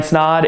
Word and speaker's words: Snod: guys my name is snod it rhymes with odd and welcome to another